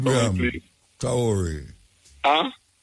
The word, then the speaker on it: Traoré: Do you pronounce his name for me, please? Traoré. Huh? Traoré.